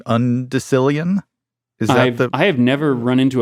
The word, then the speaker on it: undecillion: lawsuit and had to pay the plaintiff to undecillion dollars that was the question am I pronouncing it right undecilian I have never run into a person in